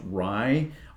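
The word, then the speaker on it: Ruy: It must be pronounced Rye, R-U-Y, Teixeira.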